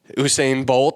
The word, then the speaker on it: Usain Bolt: That means hopefully Usain Bolt. Did I say that right? Did I pronounce it?